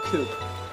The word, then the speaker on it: coup: Coop. Or coo, technically. That's how you pronounce it, but it's spelled coop. You know? Like when you launch an attack, like a revolution against governments. It's called a coup.